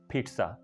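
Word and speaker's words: pizza: बोलना चाहते हैं तो इसकी प्रोनाउंसिएशन है पिट्सा। ऐसा समझना आपने कि पी उसके बाद एक ट साउंड है, उसके बाद ज़ा, पिट्सा, right, पिट्सा। The correct pronunciation is conversation, right.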